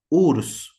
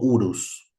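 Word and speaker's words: Uruz: Eh, la dos, urs para nosotros o urus.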